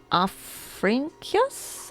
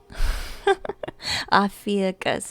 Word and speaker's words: Ophiuchus: Oh yeah, Afrinkius? How do you say that? I think you're right though, Forest Fairy, yeah. They come in packs, they do. Yeah, it's clear. Ophiuchus? Thank you, Quarter Square. Ophiuchus is how I pronounce it.